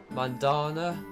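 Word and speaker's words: Mandanda: good to pop up and we get man Mandana is how you say his name wow really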